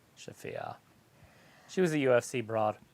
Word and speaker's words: Shafir: I don't know how to pronounce her name, but she's fighting Thunder Rosa. Schiffer. It's Marina Shafir. Shafia.